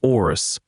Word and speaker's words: Horus: That Horus, whom we actually pronounced Orus, was captured by the red demons of Seth.